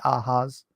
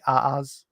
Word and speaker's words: Ahimaaz: I pronounce this like the Hawaiians. The Hawaiians will pronounce a double consonant as the consonant twice. So Ahaz or Aaz is kind of how I do it.